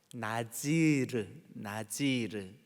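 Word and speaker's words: נזיר: 우리가 민수기를 함께 나눌 때 민수기 6장에서 나실인의 규례, 이게 이제 히브리 말로 나지르 이렇게 발음을 해요.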